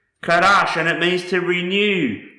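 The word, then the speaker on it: חדש: The next word I want to show you is pronounced Kadash. Kadash, and it means to renew, renewed, new.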